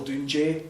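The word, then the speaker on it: Dùn Dè: Then you have this thing here, which is more like, it's still Dunjay, is what you would pronounce that second one as.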